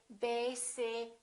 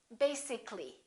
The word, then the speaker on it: basically: it has two syllables if we add a ll Y we don't say basically this a disappears so the a is not pronounced and we say basically take a look at